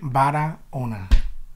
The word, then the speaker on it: Barahona: though right now B Ona the H is silent know Spanish speakers yeah